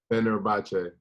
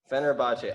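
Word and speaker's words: Fenerbahçe: Fenerbahce. Fenerbahce.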